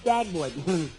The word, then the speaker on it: Dagwood: Look, my name is not Deadwood, it's Dagwood.